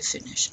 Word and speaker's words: finis: So le verbe finir, to finish. Répétez, je finis. You pronounce that S? No.